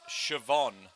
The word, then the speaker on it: Siobhan: we are straight into this so we have shibon and ree now we've been through this before siobhan in the uh australia colours and re in the black now what's interesting fact it's pronounced siobhan what this is is this a sword